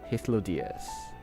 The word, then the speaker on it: Hythlodaeus: I am Hythlodaeus, Chief of the Bureau of the Architect. Ah, that's how you pronounce it. Hythlodaeus.